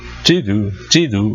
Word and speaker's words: 基督: 기독, 이 말은 이제 기독이라는 글자도 역시 중국어로 발음하면 오늘날에는 지두 이렇게 됩니다.